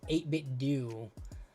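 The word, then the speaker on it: 8BitDo: I I'm a fan of 8bit do or how is that how you say 8bit do? I say 8bit do like Nintendo. Uh but I've seen people pronounce it as 8bit dow.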